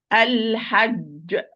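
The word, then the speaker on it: الحج: Like this word, if I'm going to pronounce properly, it's going to be al-hajj. And this is the great qalqala. Okay, because we are going to stop here. Al-hajj. Al-hajj. Wrongly, Al-Hajj. No, there is no ga in the Quran.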